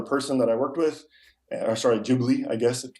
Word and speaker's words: Ghibli: Ghibli, I guess, to pronounce it correctly.